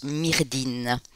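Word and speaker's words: Myrddin: galloise merlin qui ont qui en breton se prononcent mais résine et qui est qui qui en gallois se prononcent myrdhin donc en fait le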